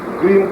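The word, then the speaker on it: क्रीं: क्रीम का मतलब है CREEM, ये क्रीम शब्द है जिसे आप सही उच्चारण कर सकते हैं।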